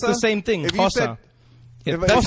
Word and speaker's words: Xhosa: Yeah, it's a click. Xhosa.